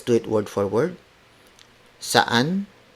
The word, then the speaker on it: saan: Saan ka galing. Saan is spelled as S-A-A-N.